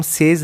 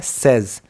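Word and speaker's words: says: सेज that तो देखिए यह जो एस ए वाई एस है इसको हम सेज नहीं बोलते बच्चों इसको हम प्रोनाउंस करते हैं सेज दोबारा सुनिए नो वन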